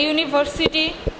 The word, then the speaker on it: university: They are pronounced like a consonant sounds, so we use a instead of an before the word university.